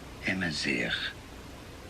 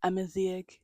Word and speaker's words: Amazigh: The pronunciation of this word is as Amazigh, Amazigh, Amazigh. Amazigh. I still don't think that's right.